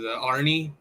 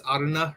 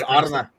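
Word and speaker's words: Arne: Well, first of all, for the pronunciations, kind of like with Arnie, it's Arna, right, Tim? It's Arna. Yeah, it's Arna, but then I just ended up pronouncing him Arnie.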